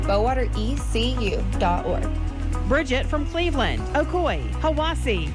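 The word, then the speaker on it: Hiwassee: expires I'm dwane from Cleveland Tennessee and it's pronounced Ocoee Etowah and hawasi Adam Denver asoe hawasi itoa Jamie Denver I'm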